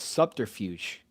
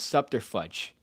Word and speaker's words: subterfuge: day i had uh it's a thing called subterfuge that i used to pronounce scepter fudge because i was a pig